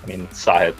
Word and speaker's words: Sahith: tongue, and it's a number of things, but Sahith is pretty much the way. When I was young, I always pronounced it the wrong way, because when I